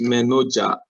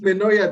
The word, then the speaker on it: Menoja: My name is Menoja. Sorry, I call it Menoya because of Swedish classes. Oh my God, so sorry about that. In Sweden, they pronounce J as Y.